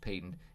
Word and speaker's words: patent: there are in fact patent this is pronounced patent means that there's that